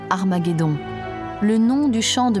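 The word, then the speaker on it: Ἁρμαγεδών: testament rédigé en grec armageddon s'écrit avec une lettre aspirer ce qui indique que la première syllabe à se prononcer dès 15 h aspiré si bien qu'à l'origine c'était armageddon a du reste entre armée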